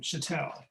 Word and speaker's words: Schattel: i pronounce chatel patel i will tell you how to pronounce my name chatel thank you very much